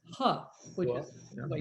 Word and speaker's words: He: So the name is pronounced Huh. And she was so excited. And she said, I have been called he for 4 years.